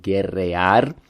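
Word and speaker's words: guerrear: of it um and then real is actually a misspelling and a mispronunciation of gerryar which is a verb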